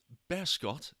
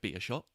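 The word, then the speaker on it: Beerschot: head coach from um bear scott is what i've seen is how it's pronounced i don't want to say be a shot but it's best scott um how's that been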